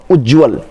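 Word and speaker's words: उज्ज्वल: अब देखिए ये तो बड़ा कॉमन मिस्टेक होता है लोगों से कि उज्जवल बोलते समय बोलते हैं, सोचते हैं कि आधा ज और पूरा ज है, जबकि इसका शुद्ध क्या है, दोनों ज आधा होते हैं, ये याद रखिएगा। उ आधा ज व ल, उज्जवल, ये शुद्ध है, उज्जवल में यही शुद्ध है।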